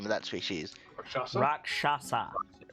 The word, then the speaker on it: Rakshasa: you say that the name of that species rakshasa rakshasa took do i know this make an arcana